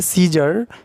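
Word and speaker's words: scissors: है उसके बाद है सीजर सीजर सीजर्स का मतलब क्या होता है कैची या कतरनी ठीक है कैची और ये सीजर्स में सी जो है साइलेंट है उसी तरीके से सीन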